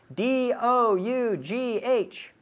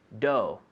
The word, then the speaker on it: dough: Freedom with pronunciation right d-o-u-g-h Doe dough that's it right so don't try to pronounce all those letters right do yes that